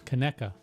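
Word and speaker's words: Conecuh: I don't even know how to pronounce that. Connecca. Connecca.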